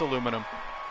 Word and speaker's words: aluminum: Nah, aluminium is stupid. It's aluminum. The British say aluminium, too. It's not just the Dutch.